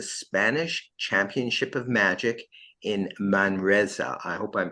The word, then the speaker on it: Manresa: training at the Spanish Championship of Magic in Manresa. I hope I'm pronouncing that right. M-A-N. Is that Close. Manresa. Manresa.